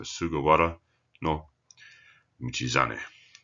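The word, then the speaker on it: 菅原道真: Hara, or in this case pronounced as wara, it's changed its pronunciation over time, is a plain, as in a land, plain, flat, no mountains.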